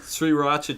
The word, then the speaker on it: Sriracha: sriracha chips, which are very good.